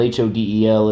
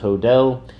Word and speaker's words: Hodel: about a suspect, George Hill, and his name is spelled H O D E L. It when I was first reading that, I thought it'd be pronounced Hodel, but yeah, it's pronounced Hodell.